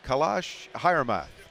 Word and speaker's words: Kailash Hiremath: name if I can get it right is kalash hman was I close that's on the money on